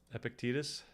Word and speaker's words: Epictetus: me how to pronounce this, but I think it's Epictetus. No. Am I close? Yes. Is that actually it? Epictetus. Marcus Aurelius. I feel like I don't remember a lot of these word pronunciations, so I'm glad I remembered one.